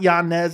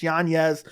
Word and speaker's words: Yanez: you say his name it's not Yanez it's Yanez but this fight Adrian Yanez